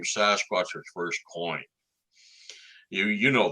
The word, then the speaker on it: Sasquatch: The best way to think of it is take the word basket, drop the B, and add SAS to it.